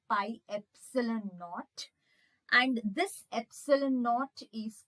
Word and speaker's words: epsilon naught: So this is how it has to be pronounced, epsilon naught.